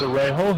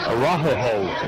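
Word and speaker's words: Araujo: Foul's going to be charged against Arejo. He'll pick up the personal foul. Arajo is how they pronounce that. I was wrong on my pronunciation.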